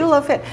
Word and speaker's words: Chulo Fit: And am I saying it right? Chulo Fit? Yes, exactly. Chulo Fit.